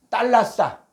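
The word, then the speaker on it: θάλασσα: 자, 헬라어가 2281번에 달라싸. 여기는 달라싸라 그러는데 요게 떼타거든요. 떼타는 쌍디귿 발음을 하게 됩니다. 그래서 달라싸. 자, 달라싸인데 이 달라싸가 바다란 뜻도 있는데 쭉 한 번역된 거 보니까 마태복음 4장 15절에 해변, 바다.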